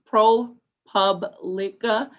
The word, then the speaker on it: ProPublica: Are you familiar with the July 2020 report by ProPublica, pronounced ProPublica, on police tactics at protests?